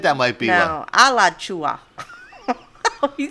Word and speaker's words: Alachua: No, Alachua. He sounds so I think that might be right north now. or even middle of us. It doesn't matter. Lachula? No, Alachua.